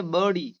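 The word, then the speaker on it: Birdie: इसे बहुत सारे बच्चे बडी पढ़ते हैं। बडी जो कि गलत है। यहां पर आर साइलेंट करके है। इसे बडी। ठीक है? व्हाट डस लिटिल बडी से?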